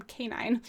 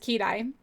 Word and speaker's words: Kenai: Which is hilarious because she can't even say his name right. She calls him Canine. And I'm just like, okay. But she did suggest Kenai.